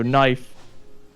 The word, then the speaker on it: knife: know knife right so knife or was the reason why is the K in there was because the K was pronounced and eventually people basically just stopped pronouncing the K to kind of just